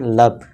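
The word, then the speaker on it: love: इसे हमें पढ़ना चाहिए था लोभ। लेकिन सभी इसे क्या पढ़ते हैं? लव।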